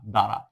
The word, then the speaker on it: দ্বারা: যেমন দ্বারা, দয় আকার রয় আকারে রা, দ্বারা। এই বয়ের কোনো উচ্চারণ হয়নি। ঠিক সেভাবে দেখো, স্বামী শয় ব, এখানে বয়ের কোনো উচ্চারণ হয়নি।